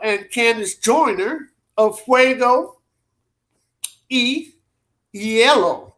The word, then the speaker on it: hielo: candice joyner of fuego yellow i remember the h is silent in spanish so i don't say